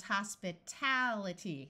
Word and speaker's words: hospitality: I'd like to point out that although the root is hospital with the UL sound here, as soon as we add itty, it becomes hospitality where this syllable is accented.